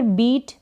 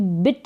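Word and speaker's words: beat: silent है catch फिर बीट किसी को पीटना बीट करना तो इसको भी बिट नहीं पढ़े बीट पढ़ेंगे ई ए का साउंड बड़ी ई के रूप में बीट स्विम का मतलब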